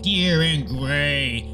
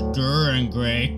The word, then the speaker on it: Dir En Grey: by Japanese midle band dear and gray a band I used to pronounce durar and gray go I'm so americanly